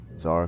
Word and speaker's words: Czar: let us back to the Tsar club or yeah sorry Club um which is spelled very funny it's czar ell remember it's spelling and then yep so